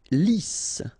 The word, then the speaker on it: lisse: Lisse, double S here, so it's really a strong S, lisse, okay, don't insist on the final E, lisse.